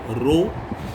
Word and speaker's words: rho: Date डली हुई है, आप देख पा रहे होंगे। लेक्चर थर्ड है। टॉपिक का नाम है रेजिस्टिविटी। सिंबल है जिससे डिनोट करोगे रो। स्पेलिंग बगल में मैंने लिख दी है RHO, रो।